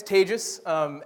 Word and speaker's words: Tejas: My name's Tejas, as he said, pronounced like contagious.